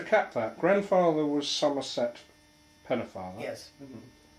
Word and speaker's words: Pennefather: to cap that, grandfather was Somerset Pennefather. Yes. How do you say the name? Pennefather. Pennefather. Yes, it's pronounced Pennefather, although it's spelt father.